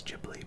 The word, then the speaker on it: Ghibli: Or I believe the official pronunciation is Ghibli, but I've always said Ghibli, and I'm not about to stop now.